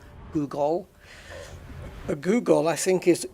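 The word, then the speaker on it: googol: A Google, and by the way, when I say Google, I'm not talking about the search engine. It's spelled differently. It's Google is G-O-O-G-O-L, Google.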